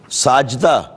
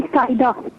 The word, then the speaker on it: سائدہ: سائدہ۔ ساجدہ نہیں سائدہ۔ شاہدہ؟